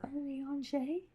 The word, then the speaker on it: Urianger: Urianger?